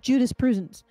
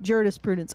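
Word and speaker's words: jurisprudence: to protect you know I like the fact that you're mispronouncing it in that way because it is kind of Judas Prudence um but it's it's an unintended pun Juris Prudence okay so I there's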